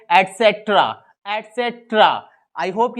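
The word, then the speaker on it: et cetera: आज से क्या करेंगे ईटीसी को जो हिंदी में आप जाते हैं जानते हैं इत्यादि दी उसको इंग्लिश में हम बोलते हैं अटसेक्ट्रा आते सत्र आई होप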